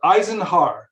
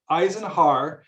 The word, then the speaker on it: Eisenharr: transformation and it's pronounced the first part is like an i i and then zen like you're meditating zen and then har so eisenharr eisenharr and then the last